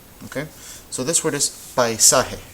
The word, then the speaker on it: paisaje: Okay, so this word is paisaje. How many syllables do you hear? Paisaje. You should hear 3 because this is one of them. Paisa and he.